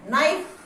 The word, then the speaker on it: knife: जिस प्रकार से हम इंग्लिश के अंदर लिखते हैं नाइफ, KNIFE, मगर इसको बोलते क्या है, नाइफ। इसमें के हमारा क्या हो जाता है, साइलेंट हो जाता है।